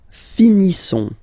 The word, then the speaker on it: finissons: Nous finissons. Okay, I-S-S-O-N-S. Ils sont. Nous finissons. Finissons. Okay, final S not pronounced.